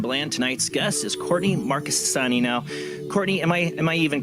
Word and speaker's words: Marchesani: Marchesani, right? Okay. No, you got the CH down. It's like Chianti, and you totally nailed it.